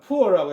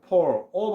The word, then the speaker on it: poor: 이때요 poor가 나온데 있는데 이게 발음기에서는 poor라고 했는데 그렇게 발음하니까 외국인이 아니다고 막 그러니까 그냥 poor, o 발음 비슷하게 이렇게 발음하면 되겠습니다.